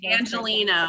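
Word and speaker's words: Angeleno: right person how do you say that philosophy angelino i'm an angel you know that's amazing awesome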